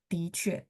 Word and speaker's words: 的确: Di sini dia bacanya ti, ada dua. 的确. Padahal ini adalah te-nya yang kita kenal dengan milik. Tapi kalau dia fungsinya sebagai milik, bacanya te.